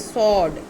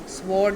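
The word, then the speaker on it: sword: तलवार को इंग्लिश में स्वॉर्ड कहते हैं, लेकिन इसकी करेक्ट प्रोनाउंसिएशन इज सॉर्ड. आपने ऐसे सोचना जैसे SAWD लिखा हुआ. सॉर्ड. स्वॉर्ड नहीं, इट इज़ सॉर्ड.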